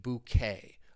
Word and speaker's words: bouquet: Keep in mind this word was borrowed from French. French. So the pronunciation bouquet. A bouquet of flowers.